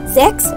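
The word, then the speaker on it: sechs: a little bit fumes six is called sex you have to give h sound more in sex seven is for zebra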